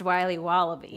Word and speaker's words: Wiley Wallaby: Can I have a piece of that Willy Willoughby? Wally Wibbly. Wiley's Wallabies. Wallaby Wallies? Wilby Wallaby? It's pronounced Wiley Wallaby.